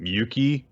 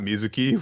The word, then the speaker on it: Yuki: bit and um um yuki not music got her name wrong yuki's her name not mizuki what are you gonna